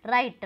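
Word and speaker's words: write: है silent word है, राइट, राइट में क्या है डब्ल्यू एक साइलेंट वर्ड है, नाइट, नाइट में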